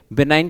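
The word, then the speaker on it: benign: बिनाइन है वो एक तरह से ठीक है बिनाइन की स्पेलिंग क्या होती है बी ई एन आई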